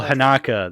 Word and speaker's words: Haneke: Uh Michael Haneke, that's how you say it. Haneke. That's the pronunciation.